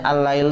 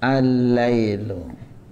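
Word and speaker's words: الليل: lam yang ke dua jadi lamnya yang kedua itu tasdid bukan enggak ada tapi memang ada lamnya ya jadi tulisannya allail tuh begini ya aslinya Al Lail begini ya jadi ini lam yang ini terus ini Lail sehingga lam ketemu lam ditulisnya Jadi allailu tapi ini tasdid menunjukkan bahwa lam ini berjumlah dua annasu enam anasuqu Syamsu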